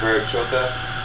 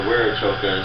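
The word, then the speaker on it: Viracocha: them it would be the Verachoka, or Werachoka is the way it's actually pronounced in our language.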